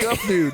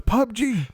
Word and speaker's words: PUBG: Gupdo. No, it's PUBG, not Gupdo.